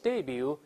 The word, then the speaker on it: debut: 秀，一般有个词叫 debut，后面那个 t 呢就不发音了，我们读一下这词 debut。